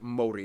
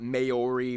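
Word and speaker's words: Māori: korea and japan yes by the way it's pronounced mori not maori maori they use the new zealand dollar as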